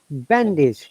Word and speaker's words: bandage: When we use as a verb, we stress on the first syllables, bandage.